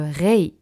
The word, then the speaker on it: Rei: C'est ok de dire Rei avec un R un petit peu francophone, c'est normal qu'on n'arrive pas forcément à tout prononcer, mais essayez en tout cas de ne pas mettre un A après le R et vraiment R-E-I, Rei, l'énergie de l'âme et de l'univers.